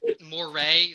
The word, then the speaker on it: Moray: for sure guys um Moray spelled like Mory that's funny okay like like like momento Mory like the Latin word oh that's pretty cool